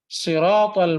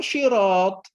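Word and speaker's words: صراط: Nah, banyak orang itu kemudian bacanya di makhrajnya bagian titik sya. Akhirnya ihdinas siratal mustaqim. Kalau syirat itu artinya kaset. Tapi kalau sirat itu artinya adalah sabil, jalan. Sudah beda jauh.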